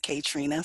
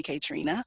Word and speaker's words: Kaetrena: just a quick clarification my name is pronounced Katrina so please call me Katrina or a Trina's fine I'm excited to talk